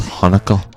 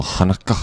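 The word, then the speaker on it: Haneke: director Michael I found out his name is pronounced Hanukah Michael Hanukah Hana yeah he's he's German and his last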